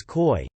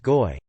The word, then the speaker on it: Koi: For the first 5 I was calling one of my team, whose name is koi, koi as in the fish. It's actually pronounced goi.